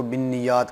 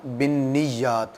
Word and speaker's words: بالنیات: نیتوں کے اوپر ہے۔ یہ لفظ بالنیات ہے، بہت سارے لوگ اس کو بالنیات کہتے ہیں۔ بالنیات یاد رکھیں غلط ہے، صحیح تلفظ اس کا یہ ہے انما الاعمال بالنیات۔ تو آپ صلی اللہ